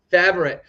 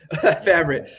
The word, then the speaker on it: Favre: Favre. Favre. It's like Brett Favre. It's actually the right way to say it.